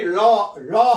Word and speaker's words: law: 이것도요, law도 아니고 라도 아니고 law 할 때, 그러니까 이걸 쓸 때요, 이렇게 쓰면 됩니다. law. 예, law. 이렇게 쓰면 이게 정확한 발음입니다.